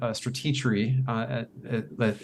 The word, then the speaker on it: Stratechery: And then I would say also Stratechery, it's hard to pronounce exactly, but it's supposed to be a strategy, Stratechery, but it's Stratechery.